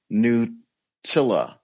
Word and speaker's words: Knuttila: Say how your name is pronounced. Knuttila.